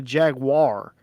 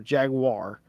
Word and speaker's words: Jaguar: a no it's a Jaguar it's like it's like a Jag and then a wire Jaguar Jaguar oh god that sounds so weird to say it why just it is a Jaguar it he says Jack